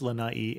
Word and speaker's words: Lana’i: before the last I to indicate that it is in fact a separate syllable so as I was